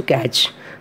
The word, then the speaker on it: catch: is very easy to catch. Okay, first one is T is silent before CH. For example, catch, sketch, stitch, watch, which. Here C-A-T-C-H, catch, but we are pronouncing as a catch.